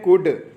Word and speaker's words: could: आगे देखते हैं कुड, तो यहाँ पर देखें COULD, एल क्या होगा यहाँ पर आपका साइलेंट होगा।